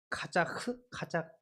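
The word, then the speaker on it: חָזַק: 카자크 이렇게 좀 어렵네. 카자크라고 발음을 하게 되어지는데요.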